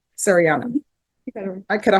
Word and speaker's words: Sariana: Serini, how do you pronounce it? Shadiana? Sariana.